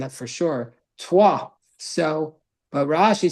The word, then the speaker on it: Troyes: But today in French, they don't pronounce the S. The S is silent at the end, that for sure. Troyes.